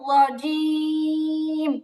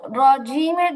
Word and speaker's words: رجيم: আচ্ছা আপু, রজিমের জিমটা আরেকটু ক্লিয়ার হবে, মাখরাজটা আরেকটু ভালো করে সেট আপ হবে। রজিম, রজিম। رجيم. এটা আরেকটু ট্রাই করতে হবে, এটা আরেকটু ট্রাই করতে হবে যেন পরিপূর্ণ মাখরাজ থেকে হয়। জিহ্বার মাঝখানটাই তালু বরাবর লাগবে।